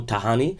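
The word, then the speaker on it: Tajani: goal foreign minister Antonio Tahani says I think it's pronounced tahani when there's a J right in Italian for those of you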